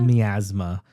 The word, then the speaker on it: Miasma: Camp Miasma. Miasma.